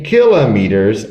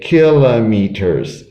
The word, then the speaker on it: kilometers: every winter how many kilometers oh look i changed all right this this word has two pronunciations some people say kilometers some people say kilometers both are okay again how many kilometers